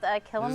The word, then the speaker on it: Kilima: Yeah, it is called Kilima the Village. opening area? So the root word is similar to Kilimanjaro. It kind of just helps you pronounce it there.